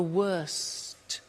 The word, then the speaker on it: worst: tea bad worse the worst don't forget to pronounce the T and then far the